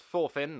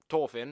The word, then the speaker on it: Thorfinn: Thorfinn, and yes, it's pronounced Thorfinn, not Thorfinn, like I've been doing previously, takes a backseat and we see the plight of the best Welshman in anime.